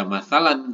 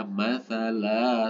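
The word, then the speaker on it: مثلا: harakat matsala nah masalaah masala ini bukan dibaca masalan kalau berhenti tapi dibaca matsala satu ayunan Jadi kalau ada tanwin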